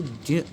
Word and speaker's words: ज्ञ: तो ये जो है इसको कुछ लोग ज्ञ पढ़ते हैं, किंतु ये जो वास्तविकता में है ये इनसे मिलके बना हुआ है। तो इसको ज्ञ ऐसा इसका उच्चारण होता है, अर्ध जकार और उसके बाद न्यकार। निकार आपको पता ही है, चवर्ग यानी कि तालु से निकलेगी। तो जब हम इसको उच्चारण करेंगे तो ज्ञ ज्ञ ऐसा इसका उच्चारण होगा।